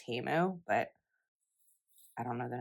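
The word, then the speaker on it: Temu: recent teu haul or Apparently after Super Bowl we've learned that it's pronounced teu but I don't know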